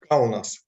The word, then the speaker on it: Kaunas: Kaunas, Lithuania.